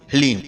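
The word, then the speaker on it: ह्लीं: इसमें हा, ला और बड़ी ई की मात्रा और अंक की बिंदी, ह्लीम।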